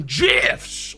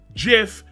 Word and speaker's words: GIF: man marata is doing gifs oh he's doing jizz baby jeff that's you pronounce it not gif if you say gif you're a heathen you're wrong okay listen